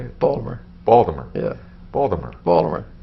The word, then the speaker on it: Baltimore: do you say it baltimore baltimore yeah baltimore baltimore you can tell somebody is a native because we don't use the t i i'm not aware